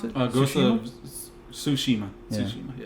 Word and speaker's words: Tsushima: Ghost of Tsushima. Yeah. Tsushima. Yeah. It's got that silent T in front of it. Sushi? Tsushima. No, not sushi.